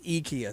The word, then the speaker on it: IKEA: right if you go because i guess it's swedish so it's just the way they say it we just you know how we butcher everything we made at ikea but apparently we've all been saying it wrong it's ikea so you can argue